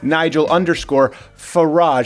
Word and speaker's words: Nigel Farage: You can follow him on the Twitter at Nigel_Farage. He just didn't correct me, but he kind of gave me a lesson in how you pronounce garage, is how you can say his name.